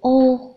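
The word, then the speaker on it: を: Và lưu ý là trợ từ O và cái chữ O của hàng Aiueo thì phát âm khá là giống nhau.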